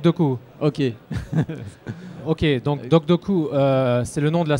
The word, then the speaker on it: DocDoku: du projet doc docu de coûts comment on prononce docks de coûts ok ok donc docks de coûts c'est le nom de la société le projet